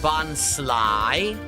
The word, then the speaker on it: Bonsly: Oh, it's pronounced Bonsly. Oh, interesting. That's what Sudowoodo, like a pseudo wood, but it's not wood. Bonsly, because again, it's sly. It's not really wood.